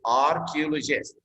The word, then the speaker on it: archaeologist: Be careful about CH, pronounce it K, archaeologist.